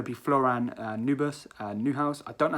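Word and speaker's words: Neuhaus: be floran new bus new house i don't know how to say his name it's not new burst there's definitely not b in there but i believe it's florian newhouse i hopefully i've said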